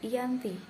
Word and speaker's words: Giyanti: 13 Februari 1755 nama Giyanti sendiri diambil dari lokasi penandatanganan perjanjian yakni di desa jati dalam pelafalan Belanda sering disebut sebagai Yangti tempat tersebut sekarang dikenal